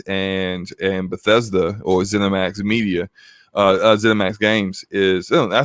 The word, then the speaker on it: ZeniMax: ZeniMax Games is, I say it right, ZeniMax Media.